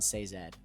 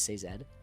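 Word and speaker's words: Sazed: really really cool um and then seed which I was saying his name wrong the entire time I always thought it was SE um but it's seed I believe um oh my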